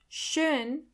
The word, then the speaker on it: Schön: Schön. Schön means beautiful. Do you hear the O umlaut in the middle?